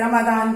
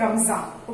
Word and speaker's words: Ramadan: Children, Eid ul Fitr mark the एंड of Holi month of रमजान, और रमदान जिसको बोलते हैं. इंग्लिश में इसको रमदान, but actually in Urdu it is called रमजान.